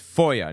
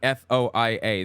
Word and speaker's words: FOIA: It's FOIA, not FOIA.